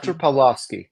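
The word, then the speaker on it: Pawlowski: bit about Arthur paloski how do you say his name p AR pavlovski pav yes so he's a Calgary Pastor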